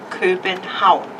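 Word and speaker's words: København: the meaning of Copenhagen is the Merchant's Harbor pronounced in the Danish language Cuban home so donated by Carlsberg and geffion spelled g-e-f-i-o-n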